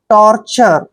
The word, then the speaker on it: torture: ये ध्यान रखिए, जब भी लास्ट में TURE आता है, इसको हमने चर पढ़ना है।